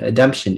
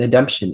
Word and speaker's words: ademption: Nikki lost $2 million in an ademption issue as the property she inherited from her grandfather is no longer existent at the time of his death.